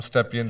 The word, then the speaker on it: Stepien: Did I pronounce it right? Perfectly. Stepien, the CEO, and I'm going to embarrass myself.